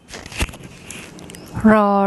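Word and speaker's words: ร: to say that so you get the right pronunciation rah rah rah rah rah rah yeah this is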